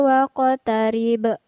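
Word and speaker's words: وَاقْتَرِبْ: Kemudian waqtarib. Ada huruf qaf yang bersukun di tengah ayat. Kemudian ada huruf ba yang bersukun dan sekaligus berada di ujung ayat. Jadi kita pantulkan cara membacanya.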